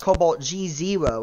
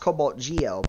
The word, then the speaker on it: CobaltGe0: but listen the oh the Zevo is still pronounced as an o it is you know that right you know it's not pronounced Cobalt G zero it's pronounced Cobalt Geo but you know I